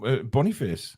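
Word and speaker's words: Boniface: that way so apparently his name is pronounced as it's written so Bonny face Bonny face very nice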